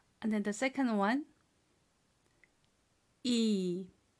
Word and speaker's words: 이: So when it means teeth, the pronunciation is shorter. So we say it this way, E, E. So number two, E is long, E. And teeth is short, E, E.